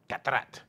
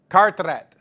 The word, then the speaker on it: Carteret: I need a church in Gatrat, New Jersey. Is that supposed to say pronounce it? Huh? Carteret.